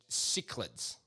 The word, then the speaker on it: cichlid: And they're, sorry, it was Cichlids. Cichlid. Cichlid. Yeah, I know it's spelled with a C, but it's cichlid.